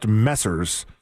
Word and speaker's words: Messrs: No, it's pronounced Messers.